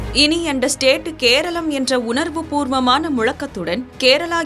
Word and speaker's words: கேரளம்: ஆனால் ஆங்கிலேயர்கள் தங்கள் உச்சரிப்பு வசதிக்காக கேரளம் என்ற பெயரை கேரளா என மாற்றினர்.